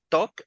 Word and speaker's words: talk: For example, these words, guys, if you notice, we don't pronounce the letter L.